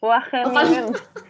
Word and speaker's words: Wageningen: Wageningen tuh cara bacanya gimana? Oh, pakai kol-kolah ya, harus gitu. Wageningen.